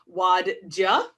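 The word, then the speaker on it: Wadjda: talking about the 2014 film that i will butcher the name of waddja um w-a-d-j-d-a it was a it was the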